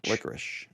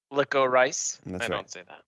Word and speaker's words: licorice: you say it uh ish is licorice like a rich okay not like a wrist no like like licko rice like like a rice if you if it's